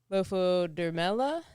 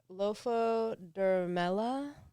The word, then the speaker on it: Lophodermella: Lophodermella. Okay. And again, that might be a bastard pronunciation of it, but it's LOPHODERMELLA. Have Andrew read it.